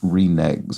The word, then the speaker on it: reneges: a deal one remags a word I always I've always found surprising in its pronunciation because it looks like it should be reneges or something like that I mean usually in this construction that g is usually soft all right pulled back